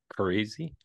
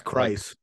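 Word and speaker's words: Kryze: remember how it's pronounced crazy crazy I remember that's beaches be crazy is that the was that the pun yeah okay I said beaches according to Google it's Christ Christ oh boy definitely doesn't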